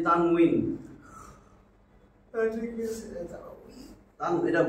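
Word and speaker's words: تنوين: আমি বা বলি, বা তারাবি, তারাবি না তো, তানবিন না তো, তানবিন। মানে আমরা বলি না তানবিন, তানবিনের উচ্চারণ, সেখানে কিন্তু ওয়াও, এই যে তানউইন, ঠিক আছে তান, এটা বা না কিন্তু তানউইন, তানবিনুন, ঠিক আছে না?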